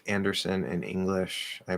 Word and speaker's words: Anderson: The middle seems to be the same, but the first syllable, yeah, it's not un. It's definitely not un. You don't want to say Underson. That sounds like you're saying under something.